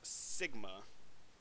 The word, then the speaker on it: sigma: It's pronounced sigma.